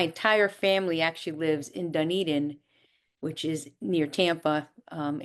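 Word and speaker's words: Dunedin: And it's pronounced Dun Eden. Duned Eden. Yes. Yes. People say Dunadan. It's Duneden.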